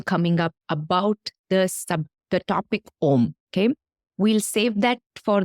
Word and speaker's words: Aum: It created with the energy, with the sound of Om. And it is Om which became transformed into what we understand as three syllables, A-U-M, which actually symbolize the power of creation, sustenance, and dissolution.